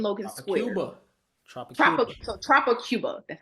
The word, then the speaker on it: Tropic Cuba: So Tropic Cuba.